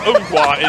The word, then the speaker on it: Ngwa: Ngwa is the way it's supposed to be said.